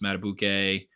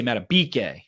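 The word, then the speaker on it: Madubuike: defensive line campbell williams mata bouquet or mata bike i need to say mata bk him and mccary mccarry mata bk that's the right pronunciation so uh those two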